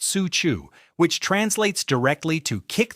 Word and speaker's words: Cuju: Here we find a game called Cuju, pronounced su chu, which translates directly to kick the ball with foot.